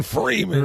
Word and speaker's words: Freeman: And you pronounce the man part at the end. Free man.